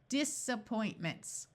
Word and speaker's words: disappointments: schw sound of uh so rather than using a short a sound let's try the schad sound and see if it works disappoint ments there we go okay